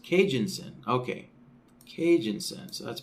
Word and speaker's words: Kijun-Sen: see here David was letting me know it's pronounced Cajun sin okay Cajun sin so that's pronounced with an